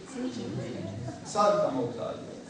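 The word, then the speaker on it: salto mortale: Salta Mortale.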